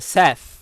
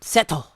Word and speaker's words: Seth: Anyway, Radiant is, of course, about a boy named Seth, or Seto, as it's pronounced in Japanese.